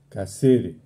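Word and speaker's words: καθαίρει: su lugar está el verbo limpiar que se pronuncia casere literalmente el versículo se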